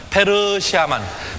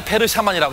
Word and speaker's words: 페르시아만: 다시 한번 페르시아만. 페르시아만인데 제가 페르샤만. 발음이 그냥 발음을 짧게 페르샤만이라고 했습니다. 페르샤만.